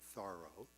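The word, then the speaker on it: Thoreau: or henry thoro or and that's the way you pronounce it thorough or margaret fuller or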